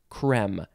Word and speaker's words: crème: I think I'll say creme because it seems more appropriate. It's a French word, by the way.